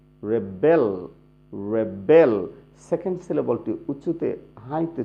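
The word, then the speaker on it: rebel: Noun হলে আমরা কিভাবে উচ্চারণ করব? এরকম, ফার্স্ট সিলেবলটি স্ট্রেস দেব, জোরে উচ্চারণ করব, এবং সেকেন্ড সিলেবলটি লো, একদম সফট করে উচ্চারণ করব।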